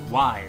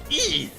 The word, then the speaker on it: Ys: what are you talking about the game is pronounced wide actually no it's pronounced II this guy Mike Tendo did a whole video